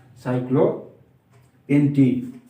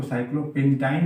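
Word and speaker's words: cyclopentene: साइक्लोपेंटीन। इसको साइक्लोपेंटाइन नहीं बोलेंगे, सूत्र उसका है, लेकिन इसका उच्चारण क्या हो जाएगा? साइक्लोपेंटीन।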